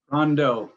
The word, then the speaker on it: Rondeau: introduce I don't want to say your name wrong rondu Rondo yes Rondo going to talk to everybody